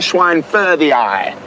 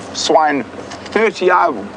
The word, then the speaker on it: schweinfurthii: It is a false marula, Lania schweinfurthii, or swine-30i. There's a lot of different ways to pronounce it.